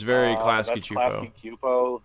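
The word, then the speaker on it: Klasky Csupo: Klasky Cupo. The S is silent. It's Arlene Kasky and Gaber Cupo.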